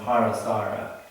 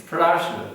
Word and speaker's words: Parashara: We called him Parasara. Parasara, it's Parashara, but you know, we didn't know the subtleties of the Indian language in those days.